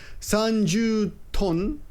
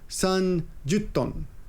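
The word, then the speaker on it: 三十トン: And I also learned something here, because I would have said this is sanjuton, but actually when you put the ju and the ton together, it becomes sanjutton.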